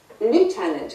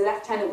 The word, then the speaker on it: lieutenant: But what I was going to talk about was lieutenant, because I'm often asked, why is there an F in the way we pronounce lieutenant when it's spelled lieutenant, which is pretty much the way that the Americans pronounce it?